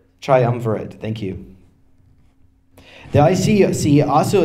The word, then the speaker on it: Triumvirate: Triumvirate, thank you.